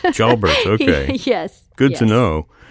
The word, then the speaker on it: Pierre Jalbert: jber I mean I I want to give it the you know the full French pronunciation because of the name but he actually calls it jalbert jalbert okay yes good to